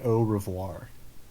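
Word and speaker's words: Au Revoir: night um so ah it's just it's like if you say it in english which is the language that we're speaking you just say oh revoir o revoir but if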